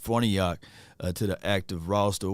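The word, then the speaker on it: Farniok: for New York right this is how you say his name Matt fornayak to the act of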